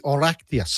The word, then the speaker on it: Oireachtas: It is actually the Oryctas. Oh, and it's wrong spelled again. like it's spelled Oireachtas.